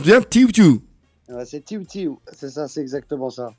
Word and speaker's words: TIIW TIIW: euh juste une question TIW ti on se prononce bien TIW ti ouis c'est TIW tiu c'est ça c'est exactement ça d'accord Ross j'